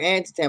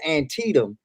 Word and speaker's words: Antietam: going to mispronounce it i call it anti-tan but i think it's antietam and tetum and um